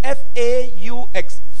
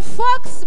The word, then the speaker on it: faux: You know, I pronounce it fox, but it's a French word. F-A-U-X, faux. Nasomye fox mu cyongereza ariko mu gifaransa basoma faux cyangwa se ni fake.